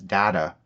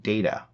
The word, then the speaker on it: Data: more than a machine pronouncing his name as data rather than data and did not understand that as data pointed out one is my name the other is not she was also confused